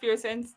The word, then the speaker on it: Person: spelled Person, but pronounced Pearson.